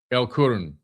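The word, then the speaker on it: El Qurn: They chose that remote valley beneath the mountain known as Elun L Karn. I think it's Karna. L Q U R N Kurin. El Kurun. That's what that's how you say it.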